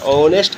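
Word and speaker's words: honest: यहाँ पर क्या होता है, यहाँ ऑनेस्ट का उच्चारण HO है, लेकिन इसका ओ का उच्चारण हो रहा है।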